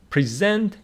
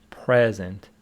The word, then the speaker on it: present: Noble Foundation presents Awards present is a verb so the stress is on the second syllable if it is an adjective it is present it is a verb